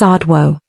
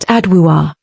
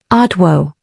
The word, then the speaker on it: Adwoa: And before you ask, it's adwo, not adua, not ado, adwo.